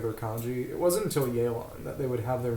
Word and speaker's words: Yelan: For example, Yelan, her name would be furigana as Yeran, even though the first character of her name would probably be more like Ya in Japanese, depending on the reading.